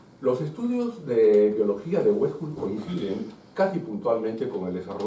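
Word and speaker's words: Uexküll: Jacob von Wexkull escribe U-E-X-K-U con 2 puntitos, doble L, es impronunciable. Mi conocimiento de lituano es menos que limitado, así que pronunciaré Wexkull, nada más.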